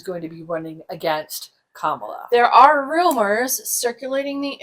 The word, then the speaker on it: Kamala: I am hopeful that the Kamala ticket, the Kamala campaign, and it is Kamala, not Kamala, and I think despite the fact that the Trump GOP pronounces it that way on purpose.